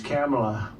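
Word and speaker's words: Kamla: It's Cam, the word cam as opposed to calm.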